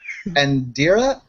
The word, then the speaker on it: Undiria: Although, Undiria is how the name's pronounced out of character.